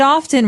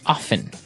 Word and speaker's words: often: Now, with pronunciation, some people like to pronounce often, right? They kind of leave out the strong T sound.